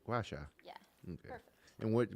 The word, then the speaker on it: gua: of a gacha face massage I could barely pronounce that gacha gu Gua right Gua yeah okay perfect and what what's origination of